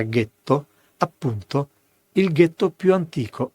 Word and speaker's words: ghetto: È ben noto che nella primavera del 1516 a Venezia è nato, nella zona detta del getto nuovo delle fonderie, per gli ebrei tedeschi la pronuncia era ghetto, appunto il ghetto più antico al mondo.